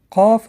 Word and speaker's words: Каф: Каф образуется между основанием языка и мягкой неба. Тоже произносится твердо. Ка, Ки, Ку, Ка, Ки, Ку. Следующая буква – это буква Каф.